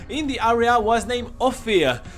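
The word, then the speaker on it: Ophir: the area was named offia it spells o-p-h-i-r go figure out how to pronounce that offi is one of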